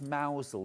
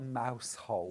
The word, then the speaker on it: Mousehole: You have to pronounce mousel, not mousehole.